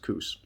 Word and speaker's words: Coos: And if I did not say that right, I am sorry, but to me it's pronounced Coos.